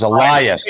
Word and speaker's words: Elias: Say his name right. It's Elias, not Elias.